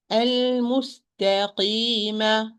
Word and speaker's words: المستقيم: upon the articulation point, I'm going to pronounce as this. المستقيم. Why قي? المستقيم. قي. No. المستقيم. المستقيم. المستقيم. قي. قي. Softly. قي. Not قي. Not قي. Neither hint of alif nor this pressing. Both are wrong.